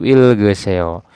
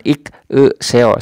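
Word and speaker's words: 읽어서: Suku kata pertama yang asalnya berbunyi ik itu ya ik menjadi il, dan suku kata kedua yang asalnya itu menjadi ge, dan berikutnya tetap ya seo. Jadi dibacanya itu ilgeseo, bukan ik seo, salah ya.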